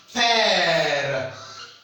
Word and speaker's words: père: So accent grave is pronounced like eh. It's pronounced like eh, as in père, père, mon père.